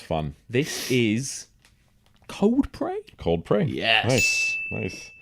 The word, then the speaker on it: Cold Prey: Cold Prey. Yes. Nice. I always remember it 'cause it rhymes with Coldplay.